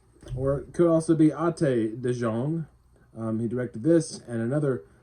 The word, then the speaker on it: Ate de Jong: Director is Ate de Jong, like eight, or it could also be Ate de Jong.